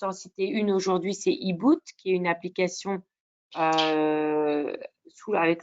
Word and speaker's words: HiBoot: Moi, je vais juste en citer une aujourd'hui, c'est eBoot, qui est une application avec le soutien de la Société française de rhumatologie. Ça s'écrit HIBOOT, qui est une application qui permet,